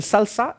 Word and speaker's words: SLSA: un framework qui s'appelle salsa SLSA ça se prononce salsa comme la danse mais ça s'écrit slsi